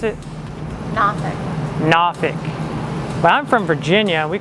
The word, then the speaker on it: Norfolk: it norfolk so that's my theory on the pronunciation of the town three different versions and this is the